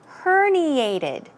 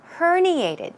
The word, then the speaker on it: herniated: spelling uh pronunciation is herniated herniated stress goes right here another word for herniated